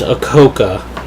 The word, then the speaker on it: Akoka: And for you those who are probably wondering how to pronounce my name, it's Akoka.